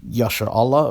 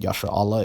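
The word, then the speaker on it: Yisra'el: yah sure Allah or is it pronounced yeah sure all most proponents of Lanka - would say that Yasser Allah is standard but you see more and more people saying Yasha all although I have to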